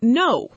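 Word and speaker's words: know: We spell it with a K at the front. But the K makes no sound at all. We just say no, exactly like the opposite of yes.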